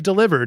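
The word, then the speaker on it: Delibird: Uh, is that supposed to be the proper supposedly because it's like delivered because he delivers presents delivered and I don't like it.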